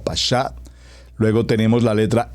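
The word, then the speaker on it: פשט: a mencionar como como principio es la palabra pasá por favor como está escrito como lo pronuncio p a s h a t pasá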